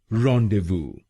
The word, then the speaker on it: rendezvous: रॉन्डेवू, रॉन्डेवू। रॉन, डे, वू, रॉन, डे, वू, रॉन्डेवू, रॉन्डेवू। और ये ध्यान रखिएगा कि हमको पहले शब्दांश पर यानी REN पर जोर डालना है।